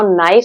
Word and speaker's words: knife: Like for example, knife. Now knife spelling K is silent.